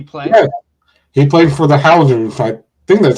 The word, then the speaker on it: Hoosiers: I think it's Indiana it's the hoosers oh okay so I didn't pronounce that wrong thank you for that you're fine but it's that yes they call they pronounce it the Hoosiers so go ahead but